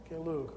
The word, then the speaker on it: Gelug: After extensive training in, never been sure how to pronounce that word. Does anybody know? Nyingma. And this word? Gelug.